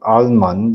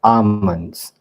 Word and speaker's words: almonds: Yeah, you don't call them alman, you call them almonds. L is silent. AS. Of course a lot of people do they do call it alman but then the correct one is almonds.